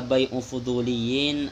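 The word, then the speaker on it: بيع الفضوليين: Keliru bacanya. Fala yusihu, maka tidak sah bai'u fuduliyin, apa jual belinya fuduli. Bai'u fuduliyin keliru, ini bukan bai'un fuduliyun.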